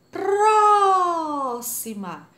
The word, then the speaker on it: próxima: uma sílaba e acentuada próxima a próxima a sílaba tônica é a antepenúltima logo ela é proparoxítona três classificadas muito bem